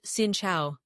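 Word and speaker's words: xin chào: At the top of the list, gincha for hello, pronounced sincha.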